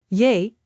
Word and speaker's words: J: Yay. Similar to the English Y in yes.